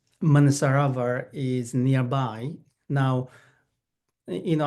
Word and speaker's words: Manasarovar: the the lake u Manisarava is nearby. Now you know I mentioned lake you can call it lake M. The pronunciation the close to the original pronunciation is manusar. So it actually has two part.